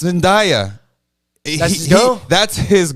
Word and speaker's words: Zendaya: He goes, oh, it's Zendaya.